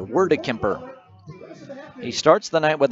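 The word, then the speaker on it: Wordekemper: His last name, by the way, is spelled W O R D E K E M P E R. Word Kemper.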